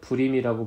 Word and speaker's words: 부림: 됩니다 그리고 이스라엘 사람들은 그 부르라는 단어를 이스라엘 식으로 바꾸어 발음하여 불임이라고 불렀고요이 역사적 사건을 통하여 새롭게 추가된